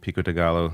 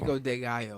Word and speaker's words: pico de gallo: Pico de gallo. I can't eat pico de gallo, though. Pico de gallo, yeah. Yeah, you don't pronounce That's right, the L's you don't pronounce.